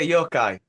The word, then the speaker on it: Yokai: it's Japanese yok is it that how you pronounce it oh yeah Yokai yeah yoai dude that's that song kicks kicks